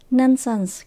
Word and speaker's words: nonsense: là họ chỉ viết nonsense nonsense có nghĩa là vô nghĩa bậy bạ Linh tin chúng ta nhấn âm đầu tiên nha nonsense tận cùng